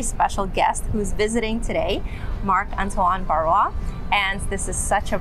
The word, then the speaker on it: Marc-Antoine Barrois: with our very special guest who's visiting today, Marc-Antoine Barrois, and this is such a pleasure. I hope I didn't mispronounce it.